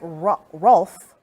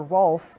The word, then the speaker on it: Rolfe: those are the officers that were involved uh atlanta police telling me that it is officer rolfe or ralph if i pronounced it correctly is the one that